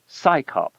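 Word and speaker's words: CSICOP: Its initials CS IO P are pronounced as the acronym SCYOP, as if it's an organization of scientists performing a police function.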